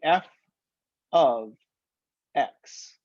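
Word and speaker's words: f(x): to pronounce this symbol we pronounce that by saying f of x f is the name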